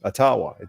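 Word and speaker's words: Ottawa: correct first nation's whatever Indian you know native pronunciation is atawa he's correct yeah I ain't doing anything that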